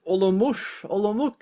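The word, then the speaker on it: Olomouc: second game victories against olomoush i think it's a hard c either way mashu did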